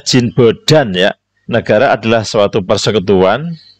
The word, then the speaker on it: Jean Bodin: Ini Perancis, bacanya Jean Bodin, ya.